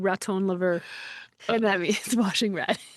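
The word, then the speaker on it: raton laveur: But the word that you are asking me to pronounce the term actually it's two words. It's raton lever. Oh, very good. I'm so glad I didn't try to pronounce that. I would have said raton lever and that means washing rat, right?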